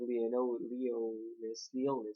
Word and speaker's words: Liones: Uh, basically, we start off this chapter with apparently King Arthur being in the gate entrance of the castle of Leonis. That's how you pronounce it.